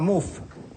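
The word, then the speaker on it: Mouffe: Se llama Muf. Soy Chantal Muf. Sí, lo pronuncio bien.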